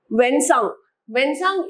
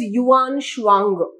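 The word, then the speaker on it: Xuanzang: okay then going ahead when sang is also known as uh say here it is also known as Yuan shuangra yes this pronunciation is different in many books so when sung or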